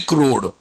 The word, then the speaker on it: CRUD: give guys crude repository Indians pronounce as a crow repository but it is originally crude okay Finish guys okay